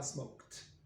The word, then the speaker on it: smoked: Donc le dernier son qu'on entend dans le verbe smoke, c'est pas le E, on ne dit pas smoker, on dit smoke. Donc on dira smoked. Donc le K va influencer le ED.